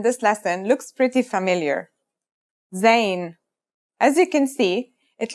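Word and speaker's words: زاي: In terms of pronunciation, you say it just like the English z, as in zebra, or Al Jazeera.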